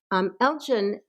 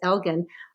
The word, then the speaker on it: Elgin: Elgin, or I think his name perhaps is pronounced Elgin, was an ambassador to the Ottoman Empire.